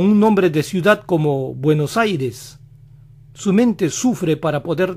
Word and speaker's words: Buenos Aires: lo dicen buenos días aires se parece a aries eres y la van a pronunciar así buenas eris buenos aires el angloparlante que sabe